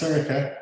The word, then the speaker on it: Sorcha: Pronounced Sorcha, spelled SORCHA, @firefly.ie.